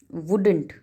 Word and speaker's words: would: to speak at once wouldn't wuld would l is silent in this word c is word with